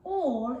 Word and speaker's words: all: And all is spelled A-L-L. So that A and L is a bit tricky because it makes an all sound rather than the A and all that it would usually make.